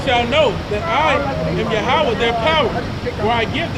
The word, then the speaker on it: Yahweh: Hebrew for it, and the pronunciation is Yahweh.